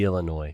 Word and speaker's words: Illinois: I've got one Nick Arellano today from somewhere in BFE, Illinois, correct? Somewhere in Illinois. Or Illinois. That's how you guys Yeah, we pronounce have Hard S.